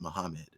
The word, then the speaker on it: Magomed: Like, there's a guy named Magomedov, even though I was told that Magomed is actually pronounced Muhammad.